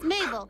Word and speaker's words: Mabel: My name is Mabel. It rhymes with table.